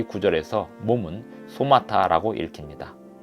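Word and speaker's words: σώματα: 신약 성경에 쓰인 헬라어로 이 구절에서 몸은 소마타라고 읽힙니다.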